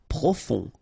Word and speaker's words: profond: Profond. Final D not pronounced. O-N, on.